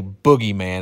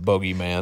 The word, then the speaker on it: bogeyman: i knew there was a boogie man as we caught it which i now pronounce it bogeyman do you remember disney